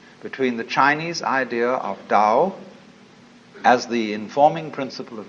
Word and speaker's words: Tao: is Paul the da Tao pronounced Dao in the Mandarin dialect Tao in the changhai dialect